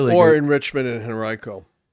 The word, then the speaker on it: Henrico: Or in Richmond and Henrico. No, you did not you didn't say it right. What? You didn't say that county right. It's Henrico. Oh. Go ahead. Henrico, how about that?